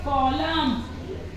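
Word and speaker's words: column: एन इसको हम बोलेंगे कॉलम ठीक है यहां पर हमने एन को साइलेंट कर दि है तो उसको बोलेंगे कॉलम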